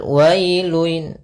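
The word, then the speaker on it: ويل: Pada lafal wailun, wailun di sini ada bacaan lin, yaitu pada lafal wa ketemu dengan huruf ya sukun, maka dia lembut dalam pelafalannya.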